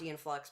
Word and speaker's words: Aeon: And I can watch Aeon Flux, but like I hated Ren and Stimpy. Aeon Flux. What did I say? Yeah, Ian. Good old Ian. Good old Aeon Flux. That's the Scottish pronunciation, So right?